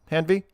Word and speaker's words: Hanvey: the lower right we have special guest Joseph hanvy did I pronounce that right hanvy perfect correct we'll get to later so shut